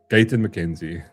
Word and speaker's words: Gayton McKenzie: Gayton McKenzie.